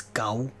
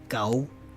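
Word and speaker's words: 九: practice the word 9 it's go spelled GA you please mimic my intonation and let's practice go go go go go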